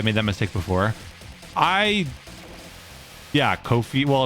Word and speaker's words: Ko-fi: Yeah, Kofi. Well, it's not spelled coffee. C-O-F-F-I. I don't know. I think it's supposed to be like Cup of coffee. Ko-fi, like lo-fi.